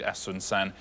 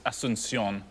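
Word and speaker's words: Asunción: of what I'd allow I think Asun San is asion it's the capital of Paraguay asion so very well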